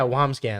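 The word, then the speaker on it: Wambsgans: by the way down you had the correct pronunciation oh thank you yeah wamscan yeah wombat thank you Omar and thank you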